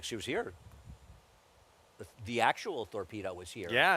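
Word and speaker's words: Thorpedo: explain to me why her name is spelled torpedo with a th torpedo torpedo so it was really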